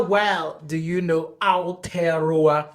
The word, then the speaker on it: Aotearoa: How do I say that, sir? Did I say that right? Yeah, you said it right, but it's just so I used too much mouth. Yeah, there's too much mouth in it.